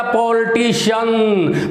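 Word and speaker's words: politician: Hsien, तो बोल गया पॉलिटिशियन, पॉलिटिशियन, है ना। तो लेकिन आपको पता है कि आज के बाद याद रखना कि CIAN से हमेशा CN नहीं बनता, सिर्फ बनता है शन।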